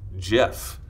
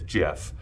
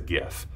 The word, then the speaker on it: GIF: an engineer a CompuServe the correct answer is Jeff I know they know there's a huge debate on here about how he actually pronounced that but I'm going with how they